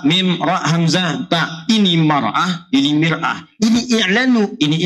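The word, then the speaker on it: مرأة: Cuma bacanya yang ini pakai fathah, ini kasrah. Ini mar'ah, ini miraah. Maknanya bisa beda. Silakan lihat. Ini maratun, ini mir'atun.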